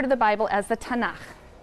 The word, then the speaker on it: Tanakh: Tanakh, which is really the letters T, N, and Ch. And they put little A's in there to make it easy to pronounce, because T is hard to pronounce.